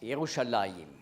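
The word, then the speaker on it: ירושלים: Le nom de la ville en hébreu prononce Youchallahim veut dire ville de la paix mais on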